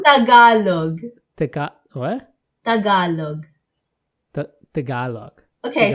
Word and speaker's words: Tagalog: I said t-e-g-e-l-o-g oh okay no it's not Tagalog Tagalog yeah yeah no you pronounced it really well oh there's so many